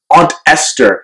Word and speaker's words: Ester: african-american community with her name that sounds like the word ancestor aunt Esther has been living since